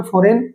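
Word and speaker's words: foreign: लेकिन यहां पे जब हमने इसको पढ़ा तो जी अलग सिलेबल का काम नहीं कर रहा था। यहां पे ये फॉरेन बोला गया एक साथ साइन एक साथ बोला गया।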